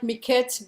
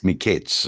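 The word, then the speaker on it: מקץ: Hebrew, it would sound like Miketz, but the kamatz under there would make, not kamatz, whatever it's called, tzire, I think it's called, would make it Miketz. Mikeitz. Okay. But if you, an Israeli wouldn't pronounce it that way. Oh, it would be Mikeitz.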